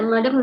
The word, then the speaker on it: madame: Oke ya, jadi perlu diingat ya, Madam lihat cara bacanya masih ada yang sedikit keliru. Kalau en français ya, akhiran itu jarang dibaca ya. Misalnya seperti madame, itu bukan bacanya madame tapi madam.